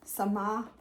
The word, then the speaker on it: Samah: Anyway, her name is Samah, you pronounce the H, Sabawi.